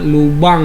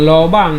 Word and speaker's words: lubang: Jadi stomata itu sebenarnya lubang yang terdapat pada daun, bukan lobang ya, bukan lobang, lobang, tapi bacanya lubang.